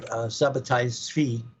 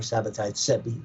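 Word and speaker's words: Sabbatai Zevi: for example 100 years after Sabati or Sabat Sebi they can pronounce it both ways right a 100red years afterwards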